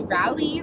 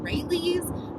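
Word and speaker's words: Raley's: I feel like I always say it wrong. I think I say Rallies and it's called Rayleigh's, but the grocery store is really just the locale and obviously not the point.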